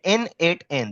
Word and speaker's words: n8n: Let's say we want to go ahead with NAN. Okay, N8N. That's how we pronunciate this.